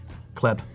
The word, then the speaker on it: Kleb: Kleb Marlin from Watson Design Group. Oh, Kleb is how you say it. Yeah, Kleb. Okay. Yeah. Kleb. I've been pronouncing it wrong.